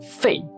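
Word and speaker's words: 废: in English that's rubber in the forth tone Fei it means useless it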